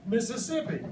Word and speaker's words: Mississippi: Everybody say Mississippi. Mississippi. Let's spell it.